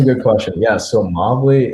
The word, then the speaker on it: Movly: So Movly essentially used to be pronounced Movely. And what ended up happening is that it was Movely, but someone ended up making a typo in the name. And they changed it up to Movley. And then we were like,